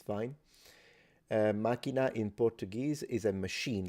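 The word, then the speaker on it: macchina: after all and um it's interesting that in Italian it's Mak so you see there is a strong K with a jump a little glottal stop minina but in Sicilian it's just single K symbol single C Sound and it's minina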